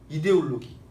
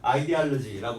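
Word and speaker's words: ideology: 이데올로기. 잘 읽었는데 영어식으로 발음을 해봐야지. 영어 단어인데 영어식으로 발음은 아이디알러지라고 발음해야 되죠.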